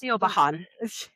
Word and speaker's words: Siobhan: Siobhan, I know how to at least pronounce. Siobhan.